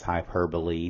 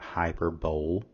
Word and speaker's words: hyperbole: of Anam anopia a hyperbole and please notice the pronunciation is hyperbole not hyperb is a deliberate exaggeration